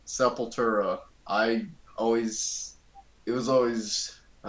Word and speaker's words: Sepultura: All right, Sepultura. I always, it was always, it took me like years to actually, pronounce their name well.